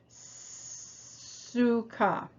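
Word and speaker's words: סוכה: new in this lesson so it starts with the new letter samek that letter represents the sound it sort of makes the same sound as steam being released suka see if you can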